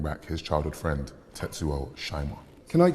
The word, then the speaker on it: Shima: his childhood friend tetsuo shima can i say it's just it's just pronounced um canada and shima on one of those